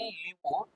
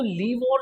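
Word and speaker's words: livre: तो लीवोर जो है, लीवोर, ठीक है, लीवर नहीं लीवोर, इसकी प्रोनाउंसिएशन होगी लीवोर। तो लीवर करेंसी जो है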